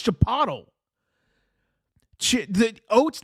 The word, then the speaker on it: chipotle: It's chipotle. Chip. It's not chip bottle. There's no freaking B.